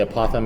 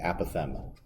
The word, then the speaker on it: apothem: the apothem all right we don't say a python because this is not some sort of a creature you find in the road this is the apothem um it's a proper pronunciation um this is what